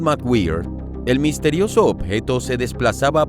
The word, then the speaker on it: McGwier: Al menos eso asegura Robert McGwier (se pronuncia Mac Güir), un científico que pasó